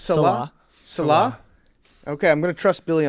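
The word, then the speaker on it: Saleh: the last name billy are you sure it's celeb okay i'm gonna trust billy on this one as our jets expert robert salah and his seven kids and his wife and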